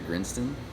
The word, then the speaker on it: Grinston: I know that the Sergeant Major of the Army at the time was Sergeant Major Grinston, spelled like grindstone without an E.